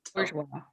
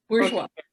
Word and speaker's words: Bourgeois: I always pronounce her name wrong, but Bourgeois. So, how do you say it, Lisa? Bourgeois. Bourgeois.